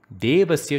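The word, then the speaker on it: देवस्य: On the contrary, Devasya should be pronounced without the force because you do not find a H after the alphabet D in Devasya.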